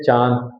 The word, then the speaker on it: चांद: जो हमारा अनुनासिक होता है ना, उसका भी उच्चारण आपकी नाक से, हंसना, चांद, है ना। हम लोग नॉर्मली क्या कहते हैं, चांद, हंसना।